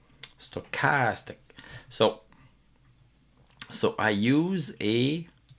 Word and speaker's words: stochastic: stochastic I pronounce it stochastic but in English you put an emphasis on stochastic you put an emphasis on the second syllable and if I don't